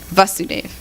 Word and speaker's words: Vasudev: Yes, Vasudev, right. So it gets a long A there when it becomes your son.